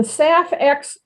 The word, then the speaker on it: SAF: is sustainable aviation fuel abbreviated as saf and pronounced saf hence the project named